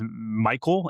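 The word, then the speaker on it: Mikul: Hefe and and uh I think it's Michael. M I K U L I'm assuming is how they is how they pronounce it.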